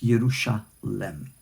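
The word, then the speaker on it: ירושלם: This one doesn't have it. So it's Yerushalem, like Shalem, like Shalomo.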